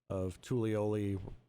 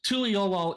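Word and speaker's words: Tuliyollal: So they did a lot of Central and South America with the southern part of Tulioli. However you pronounce that. Tuliolol is the city.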